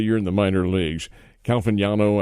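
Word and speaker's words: Caglianone: Calvignano, I think is how he says his name. The G is silent in there.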